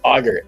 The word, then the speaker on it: agar: It's actually pronounced a g a r auger.